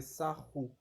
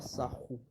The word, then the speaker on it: Sahu: Bon, on dit Sahu Parce qu'en fait, c'est roulé en fait par rapport en fait au copte. Mais si vous voulez, ça s'écrit S-A-H-U. Donc, si vous voulez, ça s'écrit Sahu. Mais on roule en fait le R pour faire Sahu.